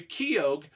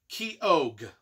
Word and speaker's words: Keogh: a fellow named harry keogh i don't know how you pronounce it it's spelled k e o g h k-e-o-g-h key og harry keogh is our